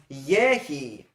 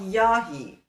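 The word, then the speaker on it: יֶהִי: It's pronounced eh, not ah. So it becomes yehi, not yahi.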